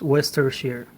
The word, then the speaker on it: Worcestershire: That word is has nothing to do with what the letters that it has, but well, that word is pronounced Worcestershire, okay.